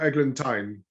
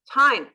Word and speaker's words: Eglantine: Eglantine. Yeah, Eglantine. Tine.